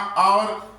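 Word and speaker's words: hour: तो जैसे यहां आवर एच ओ यू आर में एच साइलेंट है। एच बोला ही नहीं जाता।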